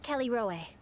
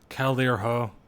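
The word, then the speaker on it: Callirhoe: I'm glad this is voice acted, by the way, because I would definitely pronounce this as Calirho.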